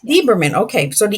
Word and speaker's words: Lieberman: Lieberman? Lieberman, correct. Yeah. Lieberman, okay. So the E is silent.